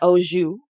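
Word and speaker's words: au jus: beef consum and then or an oou which which is spelled Au space j u s thank you sashen uh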